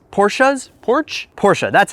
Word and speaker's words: Porsche: it's kind of a given that i love porches porchas porsches porch porsche that's how you say it right